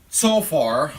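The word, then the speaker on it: Zophar: another friend who is so foes it's actually so far let me spell it different not like we have it okay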